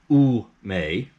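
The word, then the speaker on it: 梅: was the plum blossom ume which is u m e u may japanese plum blooms in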